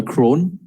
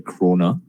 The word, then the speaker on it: kroner: sing and the dollar crone okay um i mean a lot of people are quite grown but my uncle who stays in denmark he says the proper pronunciation is actually a kroner right and then you have